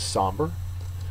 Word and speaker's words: somber: The next word is somber. Somber is an adjective. First syllable is accented.